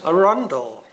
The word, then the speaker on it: Arundel: Arundel. That's how I, yes, that's how I would like it. As in the lovely town of Arundel, spectacular castle.